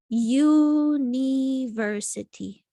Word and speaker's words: university: It's supposed to be that U is a vowel, like we would say an umbrella or something. But actually what happens here is that it's not a vowel sound, right? It's a consonant because it sounds like university, versity, versity.